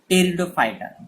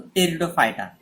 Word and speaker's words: Pteridophyta: So division third is Pteridophyta. Don't say P. P is silent here. So Pteridophyta. So what is Pteridophyta?